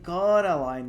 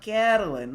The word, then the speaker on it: Coraline: They kept saying Coraline, not Caroline, not Caroline at all.